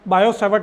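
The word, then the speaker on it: Biot–Savart: प्रीसरवेटिव scientist है तो इसके अंदर मिट्टी साइलेंट होता है बायो सेवर्ट लो इसको ऐसा बोलता है अब गुलाम सुनो याद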